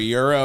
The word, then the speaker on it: gyro: what an exotic place i got a gyro or a euro or however you want to pronounce it it was just like